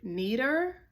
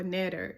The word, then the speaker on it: neder: Now a vow in Hebrew is also the word neder or neder. It's spelled N-E-D-E-R, and that means promise to perform